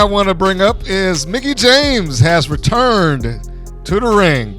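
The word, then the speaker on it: Mickie James: in any case it's been a while since Mickey Jane Mickey James let me say her name right it says Mickey James has been in a wrestling ring and she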